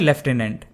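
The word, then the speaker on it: lieutenant: की जरूरत नहीं है बेसिकली अमेरिकन इंग्लिश में इसे एज लूटने प्रोनाउंस किया जाता है और ब्रिटिश इंग्लिश में लेफ्टिनेंट इसलिए सभी कॉमनवेल्थ कंट्रीज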